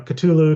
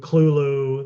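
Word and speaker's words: Cthulhu: of culu um and it's variously pronounced you know cthulu cthulu Kulu there there's you pick pick your poison it really doesn't matter um if you say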